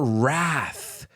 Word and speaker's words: wrath: Mother Nature man her Wrath I think you say her wrath that's a word with a silent w at the beginning so imagine that beautiful